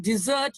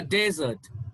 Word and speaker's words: desert: insult i take that as an insult don't desert your family don't desert your family i've never seen a desert i've never seen a desert okay all right